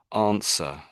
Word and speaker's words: answer: So this word here, we say it as answer, answer. Do you want to Um, just practice that word a little bit? Answer. answer. Yeah, that's it. Yeah, yeah. So the W is silent.